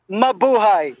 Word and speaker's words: Mabuhay: How do you say it? Mabuhay? Mabuhay. Yes, Mabuhay. Correct.